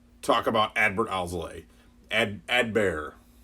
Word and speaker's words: Adbert: about advert Al's lay a dead bear don't really pronounce the T Edberg my my tongue